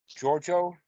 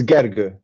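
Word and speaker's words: Gergő: So, Giorgio, that's how to say it? It's Gergo, actually. Gergo.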